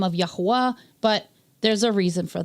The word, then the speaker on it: Yahweh: Now, I see lots of people spelling it without the W, and that's fine, but according to English grammar rules, without the W, it's Yahuwah. And we know his name is not Yahuwah, it's Yahweh. So that's why you see